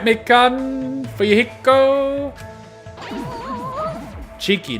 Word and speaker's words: Cheeky: mikken for your hiko cheeky not chiaki oh right yes cheeky it's spelt with an e c h e e k y you know like cheek cheeky right but um first